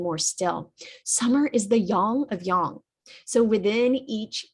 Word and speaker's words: yang: Chinese medicine would, or in Chinese, it would be pronounced more like a yang, that ah sound rather than eh.